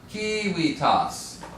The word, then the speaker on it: civitas: First syllable is long or short? Sure. Wrong. It's long. Okay, good. Okay, civitas.